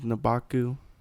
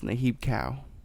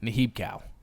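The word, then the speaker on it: Nehebkau: I was saying the snake god with the legs was Nabaku, but it's Nahib cow. Nahib cow. Is actually how you pronounce it.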